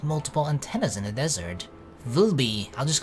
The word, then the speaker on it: VLBI: Vilby. I'll just call I'll pronounce the word. I won't say the letters. Vilby Volby used different radio telescopes from around the world. It's like it's a word. Volby.